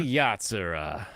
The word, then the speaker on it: Urusei Yatsura: How do you pronounce that again? Urusei Yatsura.